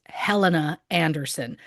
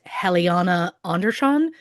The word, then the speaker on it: Helena Andersson: about today's episode, um I pronounced the name as Helena Anderson, based solely on how it was is spelled and based on the fact that I'm an English speaker. Um I have since learned, of course, the name is pronounced Heliana Anderz John.